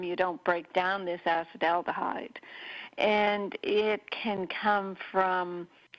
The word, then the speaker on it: acetaldehyde: about acetaldehyde toxicity and acetaldehyde is spelt a CEP aldehyde not a cid but it's sons like that and we're talking about it in the summer months because the things that produce acid aldehyde are more common in